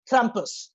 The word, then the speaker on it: Krampus: Oh, sorry, Krampus. I got to pronounce the R properly. Yeah, you got to do it like the old lady there.